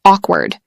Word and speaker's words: awkward: Two, the silence after the joke was awkward. Three, my first job interview felt awkward because I didn't know what to say. Pronunciation tip: Awkward rhymes with chalk bird.